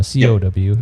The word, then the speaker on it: kaw: k-a-w um okay so the kaw it's pronounced cow and it's um actually a malaysian word for extra you know so an